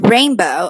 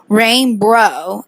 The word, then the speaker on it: rainbow: We thought that the client pronounced rainbow as rainbro instead of rainbow. So he put a W in the front of the word and inserted an R between the B and the O.